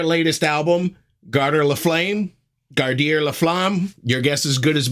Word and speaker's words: Garder La Flamme: It's called Garder La Flamme or Garder La Flame, or the French pronunciation, Garder La Flamme.